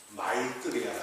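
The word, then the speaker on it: मैत्रेय: 산스크리트어로는 마이뜨리아라고 해요. 마이뜨리아.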